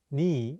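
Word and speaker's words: 네: meaning you're sometimes pronounced nii in korean ne is the certain version of the casual possessive noi meaning you're it often gets pronounced as ni instead of ne in spoken korean for example how do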